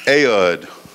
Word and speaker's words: Ehud: the name of ehud ehud i pronounced ayod anyway i don't spell